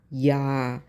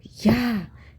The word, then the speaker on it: Ja: Ja, ich habe eine Katze. Ich is always habe. Ich habe eine Katze. So J-A should be pronounced like Y-A, yacht.